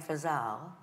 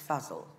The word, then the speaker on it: Fazal: is of her co-star Ali Fazal am i pronouncing that right Anna Fuzzle puzzle I've been saying for zal until about three days ago when he's good acting it's puzzle as you know this story this relationship is